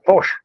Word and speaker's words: Pox: POX. Yeah, Posh. Siglo Cero. It's not Pox.